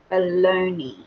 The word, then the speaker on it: bologna: So the N and the A is silent.